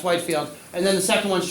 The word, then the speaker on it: Whitefield: Yeah, Whitefield is Yeah, Whitefield is how it's usually uh is how it's spelled and pronounced.